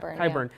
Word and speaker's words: Qyburn: Landing, except for Qyburn, am I saying his name right? Qyburn. Yeah. There's no you.